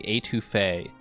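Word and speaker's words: étouffée: Atufet is a New Orleans dish and it's pronounced more like auf.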